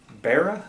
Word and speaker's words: Beara: It's Beara Irish Brewing Company.